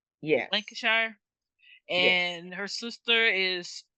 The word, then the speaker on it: Lancashire: Lancashire? Yes. Lancashire?